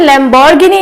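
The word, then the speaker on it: Lamborghini: बट हम घ को एग्जैक्ट घ नहीं प्रोनाउंस करते, इसे हम लैम्बोर्गिनी बोल देते हैं। सो इसका सही प्रोनाउंसिएशन लैम्बोर्गिनी नहीं है, इसका सही प्रोनाउंसिएशन है लैम्बोर्गिनी।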